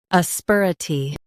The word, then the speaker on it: asperity: asperity Now, read the syllables shown on the screen naturally. uh sper uh tee asperity Stress sper and keep uh-tee light.